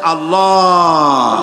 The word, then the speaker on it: আল্লাহ: পাকের নামের উচ্চারণ হচ্ছে আল্লাহ মুখটা একটু গোল হয়ে যাবে বলেন আল্লাহ আল্লাহ পৃথিবীতে বিভিন্ন জাতি